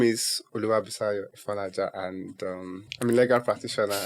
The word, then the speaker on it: Oluwabusayo Ifonlaja: Yeah, my name is Oluwabusayo, Ifonlaja, and I'm a legal practitioner.